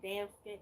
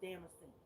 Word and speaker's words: Damascena: But it's Damascena Rose. I've been saying it wrong this whole time. I've been saying damn skin and it's Damascene.